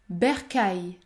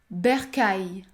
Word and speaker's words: bercail: ou encore cadeau cadeau ensuite les lettres A i l produisent toujours le son ail aïe comme dans travail travail ou encore Versailles Versailles la bonne prononciation et donc bercail bercail il ne faut pas